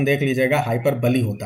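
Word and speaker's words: hyperbole: कौन बताएगा कि हाइपरबली बोलते हैं, आप लोग प्रोनाउंसिएशन देख लीजिएगा, हाइपरबली होता है, ठीक है।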